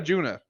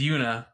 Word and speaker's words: Juna: Yeah, was it Yuna or Juna? It's Yuna. It's spelled with a J.